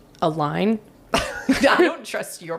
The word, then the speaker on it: Allyn: I don't think it's Ellen. A line.